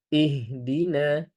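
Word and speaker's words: اهدنا: Maka lagi-lagi kita peringatkan ihdina di sini menggunakan H besar. Menggunakan H besar bukan menggunakan hak kecil. Maka hati-hati tertukar ya. Ihdina. Ihdina. Begitu juga dengan na. Pengucapan huruf na di sini adalah dengan fathah. Maka fathahnya kita harus jelaskan. Jangan sampai ke ee ke e lagi.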